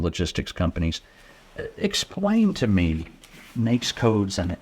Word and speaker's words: NAICS: NAICS codes.